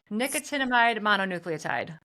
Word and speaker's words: nicotinamide mononucleotide: Let me know if I'm pronouncing this right. Nicotinamide mononucleotide.